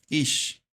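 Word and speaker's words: אִישׁ: Tenemos la primera Aleph con una Jiri y una Shin, ¿no? Entonces, es esta primera parte. Ish. Ish es la primera parte de la palabra y la segunda,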